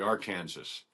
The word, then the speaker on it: Arkansas: Oh, on Gunsmoke they call it the uh they don't call it the Arkansas River. They call it the R Kansas. R Kansas, which you know that's how it's spelled.